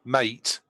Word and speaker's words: MATE: So I installed the latest Solus 4.1 Mate. I'd just like to clear that up, Mate. Mate, not Mate. No. Mate rhymes with a latte.